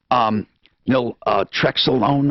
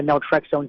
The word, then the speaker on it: naltrexone: Now, of course, I've heard of the drug, naltrexone, or is that how you pronounce it?